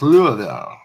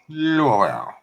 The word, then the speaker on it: Louisville: That's how it's pronounced, though. It's pronounced Louisville. Louisville.